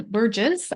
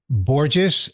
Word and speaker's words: Borges: guest today is Burgess and I probably just butchered your last name did I it is pronounced boures Rhymes Like rhymes with gorgeous like my wife and